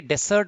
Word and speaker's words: dessert: DESSERT भी सही spelling होती है, डेसर्ट बोलते हैं उसको, वो कोई स्वीट डिश